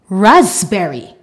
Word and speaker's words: raspberry: pneumology rule number two when we have p and B together in the middle of a word the p is silent for example cupboard raspberry the final rule are